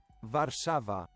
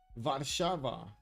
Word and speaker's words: Warszawa: Warszawa. Warszawa. Okay, Warszawa. I guess that's actually easier to pronounce.